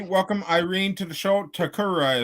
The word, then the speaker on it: Tokura: irene to the show to kururi is how you say your last name right yeah okay so this show